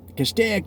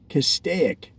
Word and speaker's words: Castaic: see cast a ik now notice that I'm saying cast a ik but people that have lived there in the area for a very long time the old school the originals the oh geez how do they pronounce it well they pronounce